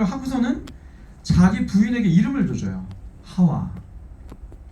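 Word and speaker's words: חַוָּה: 하와, 뭐 히브리어 발음은 헤바 이렇게 되고 이 헤바가 나중에 이브가 되죠.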